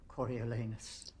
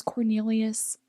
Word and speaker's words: Coriolanus: I thought his name was Cornelius.